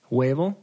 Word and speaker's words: huevo: But the H is silent, so huevo.